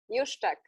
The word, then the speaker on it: Juszczak: She's going to be talking about, Gosia's last name is pronounced how, Emilia? Juszczak. It's Juszczak.